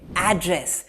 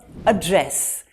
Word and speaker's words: address: up on the screen as a noun you're going to say address may i please have your email address as a verb address he stood up to address the audience and try this word